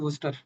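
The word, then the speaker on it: Worcester: In major majority of the country it is just called worster. So they don't pronounce the sh itself.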